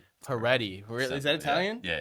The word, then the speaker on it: Pareti: Peri. Peri.